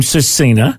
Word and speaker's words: SVRCINA: n a um and the V is like either pronounced like a U or it's just silent um and the family